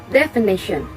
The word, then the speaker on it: definition: of this word is definition definition the stress is located on the third level and the meaning of